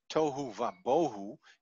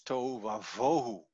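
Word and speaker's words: תֹהוּ וָבֹהוּ: But in Hebrew, in the Genesis, in the first chapter, tohu va bohu is not said, it's tohu va vohu, it's a V sound.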